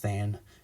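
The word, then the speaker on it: tanh: hyperbolic tan which is pronounced than even though it looks like tench and this one looks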